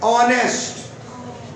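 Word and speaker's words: honest: इसको पढ़ते हैं ऑनेस्ट। क्या पढ़ते हैं? ऑनेस्ट। एच इज a silent.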